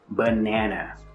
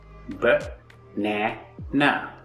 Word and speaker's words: banana: But for banana and computer, we are stressing the middle syllable. B-nana. The middle na is stressed.